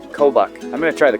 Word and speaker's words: Kobuk: Kobak. Kobach.